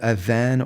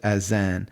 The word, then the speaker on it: adhan: We call it the adhan, or some people pronounce it azan.